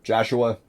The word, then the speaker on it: Jhahoua: jus a rubix and now he's changed it to Joshua or Joshua that's how you pronounce it anyway regardless of the